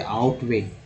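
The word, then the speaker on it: outweigh: ये ओवर नहीं होगा, आउट हो जाएगा, यहाँ लिख लीजिए ध्यान से, आउटवे।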